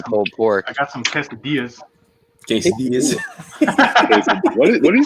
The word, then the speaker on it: quesadilla: Go get some damn quesadilla. You got to pronounce it right. It's a quesadilla. Quesadilla.